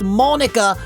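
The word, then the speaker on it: Monika: Now I know, I listened to your comments, it's pronounced Monica, not Monica.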